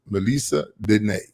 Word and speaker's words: Melessa Denee: Okay, welcome back with my guest, Miss Melessa Denee.